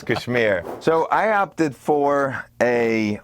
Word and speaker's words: KSHMR: or Kashmir project whatever however you want to pronounce it we're doing Kashmir for this video original yeah we got brown people in the house so it's Kashmir so I opted for a weighted MIDI controller